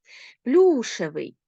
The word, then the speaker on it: плюшевий: Зверніть увагу на закінчення плюшевий на закінчення А на наголос наголос падає на корінь а наприклад у слові овочевий наголос падає на суфікс А коли у нас